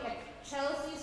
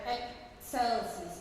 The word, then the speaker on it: excelsis: One thing to point out in the Gloria about the pronunciation, it will not be excelsis with a CH, but rather excelsis. So the C in the German Latin pronunciation is a TS sound.